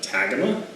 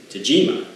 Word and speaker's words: Tagima: The first time I saw it I went Tagima, but I'm pretty sure from some online research that it's pronounced Tagima. So we'll go with that.